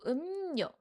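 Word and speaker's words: 음료: But when reading this word all together, this r sound changes to n sound.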